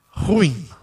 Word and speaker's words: ruim: entenda mas um certo da pronúncia é ruim é só lembrar do irmão de abel que é caim a gente fala a palavra ruim e aí aproveitando a